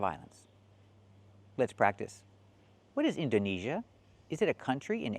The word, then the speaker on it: Indonesia: Yeah, he said Indonesia. The country is not pronounced like that. It's pronounced Indonesia. We do not use the long A like day and say, we use the long E like green beans.